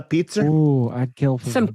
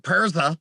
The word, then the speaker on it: pizza: the end of words hey you want a pizza nobody's calling it persa I gotta try and